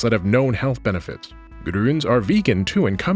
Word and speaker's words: Grüns: try this video sponsor grons grons and yes I'm pronouncing the umlout every time or a convenient comprehensive